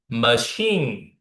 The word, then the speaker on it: machine: But to be honest, you need to stress in the second syllable. Hotel, hotel, or mistake, mistake. Okay, common, machine, machine.